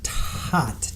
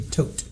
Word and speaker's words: Todt: So, Florida versus Anthony toot. Tot. Anthony Tote, I believe, is how they say it.